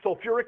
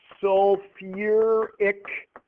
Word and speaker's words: sulfuric: Now, when we had sulfur the last one, you had to add an extra syllable. That's true here as well. What is this one going to be called? Yeah, sulfuric acid. Good. Sulfuric acid. If you just followed the rule that you'd think it would be sulf, but it's not.